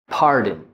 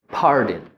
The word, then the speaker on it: pardon: Pardon. Pardon. I'm not saying pardon or pardon. I'm going straight from the D to the N.